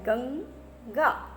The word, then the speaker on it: गंगा: सो we pronounce like that, गंगा। Same way चंगा।